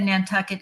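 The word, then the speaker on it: Nantucket: well I'm impressed and you said n tuck it exactly correct oh thank you so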